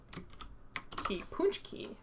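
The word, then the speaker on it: pączki: little something every day it sort of like punch key but more puh punchy punchy key okay okay good whatever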